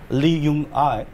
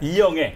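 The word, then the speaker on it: 이영애: Lee Young-ai, yeah. Lee Young-ae.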